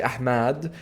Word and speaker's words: Ahmed: But some people would prefer to say Ahmed, and some people say Ahmad.